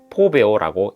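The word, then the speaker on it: φοβέω: 신약 성경은 헬라어로 기록되어 있는데 본 구절에서 두려워하다에 해당하는 헬라어 단어는 포베오라고 읽힙니다.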